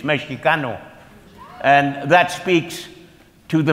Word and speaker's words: Mexicano: very harsh uh but Mexican actually is a mispronunciation it's Mexicano and that speaks to